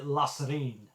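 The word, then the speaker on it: La Sirène: one of those is the LA Serene which I think that's how you pronounce it um forgive me a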